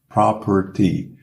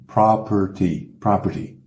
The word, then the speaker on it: property: property, a pronúncia aí, lembra que apesar de ser O, é pronunciado como um A, property, como se fosse um P e um monte de R's, né? Quase não tem vogal, property.